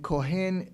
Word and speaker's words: Kohen: And Kohen is a Jewish surname to this day. They usually pronounce it in America as Cohen or Kohen. They want to be really precise.